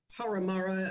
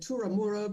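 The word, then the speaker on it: Turramurra: word or you know pronouncing the name of the you know taramara in sydney i said turamura because my mother was from england and said so i said that everybody laughed you know so all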